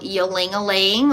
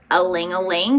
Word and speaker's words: ylang-ylang: So tonight I'm going to be using the essential oil ylang-ylang or alang-alang, depending on how you pronounce it.